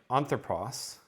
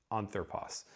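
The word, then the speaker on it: ἄνθρωπος: ago, a word like anthropos, and that I just pronounced as a smooth breathing mark, anthropos.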